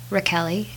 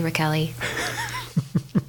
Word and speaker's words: Rachele: my name is Sarah Raquel II SAR a last name is like Rachel with an e I like to tell people to remember the the pronunciation they can call me smelly Raquel E nobody's ever called me